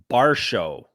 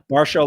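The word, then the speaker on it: Borshchev: they were saying Vyacheslav Barshow, like Barshow, like Dalton Varsho, like Dalton Varsho. Yeah, like yes, Barshow, like Darshow.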